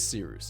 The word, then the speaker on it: Cyrus: My name is Seeroos. It's spelled like Cyrus, pronounced like Sea Rooster, just take out the ter.